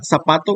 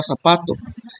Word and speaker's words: zapato: Ahora usemos lo que aprendimos con la palabra zapato. Como se escucha la sílaba sa, es la que se escucha más fuerte que las demás sílabas que conforman la palabra. Por lo tanto, sa es la sílaba tónica.